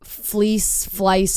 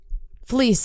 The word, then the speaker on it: Fleiss: I've always said Fleiss, but I always said Fleece, I think. I think so. I think so. I've never heard anyone say it out loud. Fleiss is probably what it is.